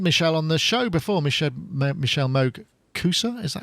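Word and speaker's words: Michelle Moog-Koussa: well we've had Michelle on the show before Michelle Moog Coosa is that how you pronounce it yeah it's correct that's correct so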